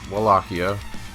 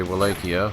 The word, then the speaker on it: Wallachia: And the original area that Dracula is from is called, it's either pronounced Wallachia, the British say Wallachia, or the Slavics probably say it more like Wallachia.